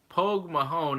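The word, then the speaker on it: póg mo thóin: country it's Mother Russia POG mohan pronounced cold Mahone Pogue Mahone is Irish for kiss my ass you can say that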